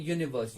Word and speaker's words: यूनिवर्स: ऐसे ही और एक एग्जांपल है यूनिवर्स, यूनिवर्स में कौन सा वाला साउंड आ रहा है, यूनिवर्स में वाई ओ यू वाला साउंड आ रहा है, दैट मीन्स अ यूनिवर्स आएगा।